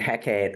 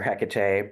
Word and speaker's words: Hecate: And you mentioned Hecate or Hecate, both pronunciations are right from what I've Okay.